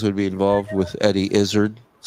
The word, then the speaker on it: Izzard: Yes, Eddie Izzard. Oh, that's right. Comedian Eddie Izzard. Izzard? What do you rhymes with lizard.